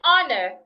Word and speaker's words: honor: heard in the word our honest and honor the age should not be heard now the next consonant